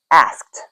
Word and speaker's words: asked: You would say asked asked. I asked a question, not asked, just asked because you can add that t sound to the end without adding another syllable.